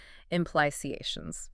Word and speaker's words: implications: Breaking down implications syllable by syllable definitely made it much easier to hear the correct pronunciation and where the stress should fall. Implications.